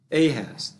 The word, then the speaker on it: Ahaz: yeah yeah i think i'm just pronouncing it wrong so it's it's uh a has the son became keenest